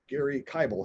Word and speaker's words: Gary Kibel: with us here uh gary kybel who's pronounced like bible uh gary's with the